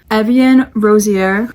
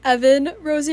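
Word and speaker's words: Evan Rosier: Slytherin gang we have Evian Rozier I have no clue why I pronounced his name like that it's pronounced Evan Rosie or not Evian Rosie I was I was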